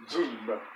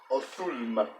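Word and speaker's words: ظلمة: Now this letter actually has two correct pronunciations in modern standard Arabic, and it can also be pronounced with a Z sound, as in zulma. But in this word, and it depends on the word, it also depends on the region. This word is generally pronounced othulma.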